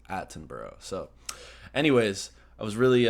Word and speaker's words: Attenborough: pronouncing his name because I was saying atton which is the correct American pronunciation but the British and the only way to go really in this case is aten bur so anyways I was